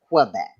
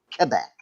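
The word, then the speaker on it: Québec: I'm saying it right they say it's not pronounced Quebec it's Quebec they told us that on our tour they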